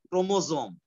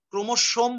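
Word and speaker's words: chromosome: ক্রোমোজোম, ক্রোমোসোম বলারও দরকার নাই, যেহেতু এস আছে কিন্তু তোমরা উচ্চারণ করবা ক্রোমোজোম, একদম সোজা ক্রোমোজোম।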